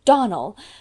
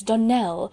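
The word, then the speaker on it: Donnell: "Clarice Almira told me that you pronounced our name Donald. Now, Miss Shirley, the correct pronunciation of our name is Donell, accent on the last syllable.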